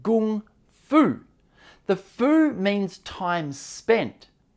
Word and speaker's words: Kung Fu: Now realize the term Kung Fu, the Chinese character Kung in Kung Fu is actually the same character as Gung, meaning that it should be pronounced Gung Fu.